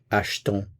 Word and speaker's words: achetons: So where you do have the E accent grave, you do hear the vowel sound. If it's just the E, there is no sound. So achète, you hear it. Achetons, you don't hear it.